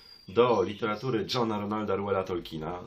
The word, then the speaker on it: Tolkien: literatury Johna Ronalda Reuela Tolkiena, zwanego potocznie w Polsce Tolkienem, obydwie te wymowy są poprawne, chociaż ta właściwa, taka jakiej używa rodzina, to jest wymowa Tolkien.